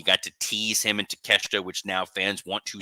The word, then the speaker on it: Takeshita: Next up, we have that Continental title match, the Fatal 4-Way between Okada, Orange Cassidy, oh my God, Takeshita, and oh my gosh, Mark Briscoe.